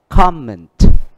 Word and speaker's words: comment: Vậy áp dụng quy tắc chúng ta đã học, động từ nhấn âm 2, danh từ nhấn âm 1. Vậy thì ở đây chúng ta đọc là gì? Include, achieve, replace, replace và comment, comment.